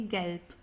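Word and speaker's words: Gelb: So here the B at the end, it's pronounced more like a P. Okay. Galp.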